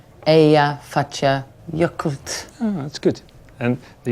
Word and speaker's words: Eyjafjallajökull: How do you pronounce its name? It's Eyjafjallajökull. Eyjafjallajökull.